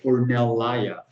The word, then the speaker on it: Ornellaia: Then he was offered a chance to go work for Ornellaia or I can never pronounce that producer correctly. Ornellaia.